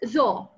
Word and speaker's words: though: This word is though. We read it O, though, without R, but this one is through.